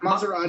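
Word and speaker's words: Masrani: With Maserati or Murray, I can't even pronounce his name. You said it right, Maserati.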